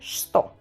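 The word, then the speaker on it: что: Así lo leeríis, una che, una t y una u. Por lógica debería leerse así, pero no se lee así. Y se dice sto.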